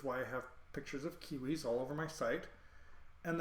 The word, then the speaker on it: civitas: curving uh shape so you have to think of it as a hard C and instead of a v it's a u and so the first c i v actually was pronounced more like kiwi which is why I